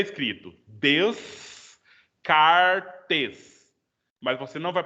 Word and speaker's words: Descartes: Então, para você falar o nome dele é Descartes. Então, você tem que fazer o biquinho para fazer o som francês bonitinho, do jeito que tem que ser feito.